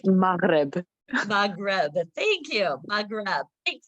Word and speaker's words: Maghreb: It's pronounced Maghreb.